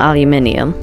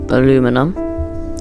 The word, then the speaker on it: aluminium: of being able to melt aluminium or aluminum I don't think there's any correct way of pronouncing it really aluminium for some reason the